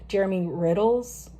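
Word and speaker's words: Jeremy Riddle: Also, Jermy Riddle's, that's how you say his name, amazing, been a rotation.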